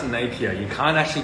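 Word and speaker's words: Napier: napia napia napia nap napia you say it's pronounced napia you can't actually pronounce it wrong cuz I actually get really upset about that everyone is pronounced napia but sorry spell napia pronounced napia I said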